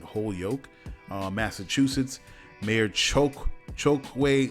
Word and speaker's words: Holyoke: california mayor alex morris from whole yoke i think that's how you pronounce it holyoke uh massachusetts mayor choke